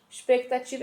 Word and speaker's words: expectativa: embora, que quebra a expectativa é escrito com X, tá? com X e o C é mudo, então é EXPECTATIVA.